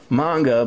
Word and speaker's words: manga: a sound and that's why it really is pronounced manga but um you know I'm not going to